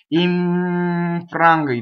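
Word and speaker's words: infranga: So notice that the second N assimilates into the G with the middle of the tongue.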